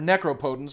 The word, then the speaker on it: Necropotence: was brilliant Ivory Tower necropotence or necro poent I guess is how some people pronounce it and library of